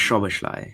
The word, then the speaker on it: Szoboszlai: Isn't it pronounced Szoboszlai? It's pronounced Szoboszlai, if you want to know.